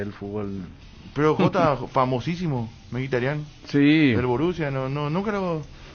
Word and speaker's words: Mkhitaryan: En verdad es Mkhitaryan, pero no sé cómo se pronunciará en su país. Se pronunciará en su país, ¿viste? Allá debe ser diferente. Pero como es conocido internacionalmente es Mkhitaryan.